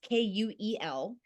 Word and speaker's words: Kuel: So it's Kuel. Mhm. And so many people ask, well, where did you get that word for cool? Because it's pronounced the same way as cool.